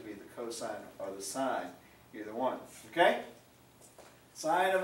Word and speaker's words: sine: do we write this sign of a that is not pronounced sin of a oh what's the sin of a no it's not the synovate it is the sign this is a long